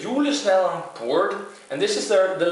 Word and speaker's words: Julesnadder: Julesnadder. I think that's how you say it in kind of a Norwegian accent.